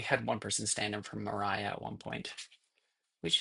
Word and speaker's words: Maria: We had one person stand for Mariah at one point which apparently is the way you pronounce that even though it's spelled like Maria.